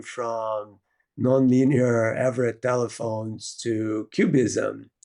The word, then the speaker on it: QBism: Um, but it's it's capital Q, capital B ISM, pronounced cubism, and it has to be capital B.